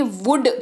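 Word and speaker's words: would: study बढ़ते हैं आगे वुड की बात करते हैं व ओ यू एल दी इसको पढ़ते हैं वुड अगेन लॉजिक से है की इसमें एल जो है वो साइलेंट रहता है क्या रहता है एल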